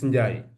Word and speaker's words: Ndiaye: So Pap Ndiaye, that's the name we pronounce it here in the French system, but as the Senegalese, we don't pronounce it Ndiaye, it's Ndiaye.